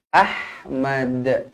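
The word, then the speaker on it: أحمد: sini maksillahahwilah okmu Ahmad Ahmad pastikan dibaca melantun dekat hujung ni Ahmad qqalah kubra qqalah kubra jadi bacanya Ahmad jangan Ahmad Ahmad Tak nak melantun Kubra Mad Kenapa dia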